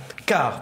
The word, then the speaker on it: Cart: Est-ce que je le prononce bien? Cart.